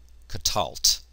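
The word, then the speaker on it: קָטַלְתְּ: The ending here is just a tav with a silent schwa underneath it. And so we end up with katalt.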